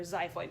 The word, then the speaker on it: xiphoid: That's spelled with an X, remember, xiphoid process.